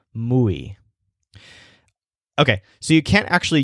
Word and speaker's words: muy: pronounce this word like moi which is not a word it's muay so if you moo like a cow you'll pronounce it more like a native speaker muay okay so you can't